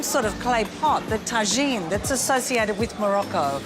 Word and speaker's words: tajine: Many are cooked in the same sort of clay pot, the tajine that's associated with Morocco. Only in Egypt, the words pronounced differently. We pronounce it as tagen.